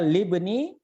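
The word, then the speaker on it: لِابْنِ: Kalau alif lam jadinya al ibnu bacanya, tapi di sini lib. Masuknya lam bukan alif lam. Paham ya? Jadi dibaca libni.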